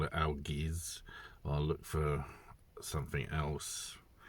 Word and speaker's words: Algiz: But obviously the rune is pronounced Algiz. I think I'm going to have to call it Algiz.